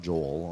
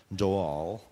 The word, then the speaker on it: Joel: That's how it's pronounced. It's not Joel, only in America. Joel.